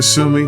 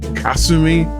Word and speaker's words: Kasumi: to pronunciation cu Kumi I always called her Kumi that's what she was called in the older dubs but now they're calling I think they're saying instead of Kumi it's Kasumi or Kasumi I believe there's the way they're pronouncing that and that has been something of a jarring change that I need to get used to because for all I know probably should have been calling her Kasumi even back in the